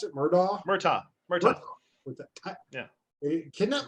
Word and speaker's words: Murtaugh: How do you pronounce it? Murtaugh? Murtaugh.